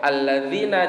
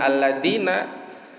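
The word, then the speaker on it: الذين: Kalau alladzina diganti dengan alladina.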